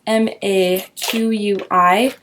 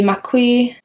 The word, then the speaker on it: Maqui: The Maqui, I think that's how you say it. It's kind of how it's spelled.